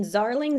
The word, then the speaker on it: Zarling: And then Zarling. Z is in zebra rhymes with darling.